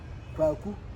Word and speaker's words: Kwaku: That's Kwaku. Kwaku is Kwa Awuku, which have been, pronounced very fast. So it's Kwaku.